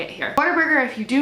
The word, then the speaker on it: Whataburger: Number 1, literally everyone here is obsessed with Whataburger and pronounces it weird. People pronounce it Waterburger.